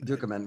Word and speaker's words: Ducommun: And I just think there's so many funny lines from Rick Ducommun. Is that how you say his name? Dukeman, Rick Dukeman.